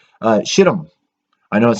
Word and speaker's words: Shittim: israel was camping in a town called uh shittim i know it sounds kind of funny that's actually how you pronounce it it is spelled s-h-i-t-t-i-m the men